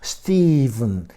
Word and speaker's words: Stephen: 요 PH라는 철자의 발음이 V로 나네요. 참요 어렵습니다. 스티븐 대부분 초성 첫소리일 때 PH는요 이렇게 F로 나잖아요. phone, 핸드폰 F로 나는 거예요. 대부분 philosophy 구절할 때 phrase. 하지만 가끔가다 V로, 이거 가끔가다도 아닌 것 같아요. 제가 볼 때는 유일한 것 같습니다.